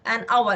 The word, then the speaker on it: hour: We say it's 1 hour, an hour. It took me an hour, as if I'm saying it took me 1 hour.